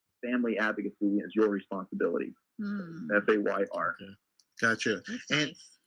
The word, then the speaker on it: Fayr: And yeah, it's spelled again Fayr. The acronym stands. Obviously, it's about being fair, but family advocacy is your responsibility. Fayr.